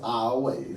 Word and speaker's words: Iowa: But like I say, I just do know that from the way that it is, it's pronounced our way.